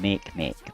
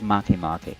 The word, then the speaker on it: Maki: I was calling them Make, but it's the way it's phonetically, Make. There's Maki. I found out after I